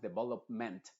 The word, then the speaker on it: development: a mejorar tu pronunciación lo mismo pasa en palabras que terminan en ment esa e no es m no es development development sino que es development management government y se dice de forma muy sutil muy suave No